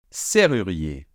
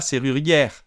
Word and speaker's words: serrurier: Alors attention, hein, même s'il y a deux R, on prononce comme si c'était qu'un seul R, d'accord? Serrurier. Serrurier. Serrurier. Et ne dites pas serrurière, d'accord? ER final fait un digramme pour faire le son E. Donc on n'entend pas de R final.